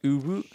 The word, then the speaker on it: Uvu: Why don't you say Uvu the right way? It's pronounced Uvu.